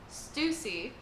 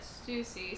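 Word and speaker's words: Stussy: then we get and y'all corrected me on how to say her name Stuy cuz it's like Luffy but Stuy so Stuy is over here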